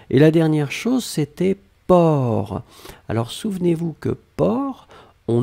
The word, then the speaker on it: porc: même pas nécessaire et la dernière chose c'était port alors souvenez-vous que port on ne prononce pas le ces finales d'accord mais on